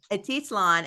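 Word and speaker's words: Atitlán: memoir held every year since 2001 in Lake pronounce it for me atitlan atitlan in Guatemala so I'm so excited that you're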